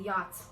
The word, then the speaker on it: yacht: But why the CH, English people? Why not just leave it as yacht, Y-A-T?